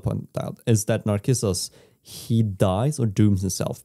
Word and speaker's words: Narcissus: You know the tale of Narcissus? We read it in psychology. It's where the word comes from, which is interesting trivia. What's his name? Narcissus. Narcissus. Yeah, because C is pronounced K in Greek.